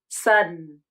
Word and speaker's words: sudden: those names names omit the vowel completely and then move from the unreleased D to a salabic n consonant Sudden sun.